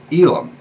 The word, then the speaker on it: Elam: little bit more tenuous is the name of Elam ela M that's the way we'll pronounce it today anyway mostly I'm sure is